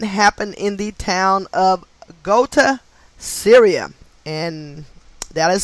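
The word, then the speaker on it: Ghouta: that incident happened in the town of gota syria and that is spelled g-h-o-u-t-a also equating to 144.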